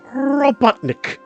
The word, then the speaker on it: Robotnik: No, you didn't say it right. You got to say Dr. Ivo Robotnik. You got to roll that R.